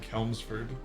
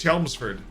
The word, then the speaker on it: Chelmsford: Billy Ricky or or Chelmsford oh you said it right first time I saw it I said kelmsford I mean it might be no it's it's Chelmsford I've been flat I've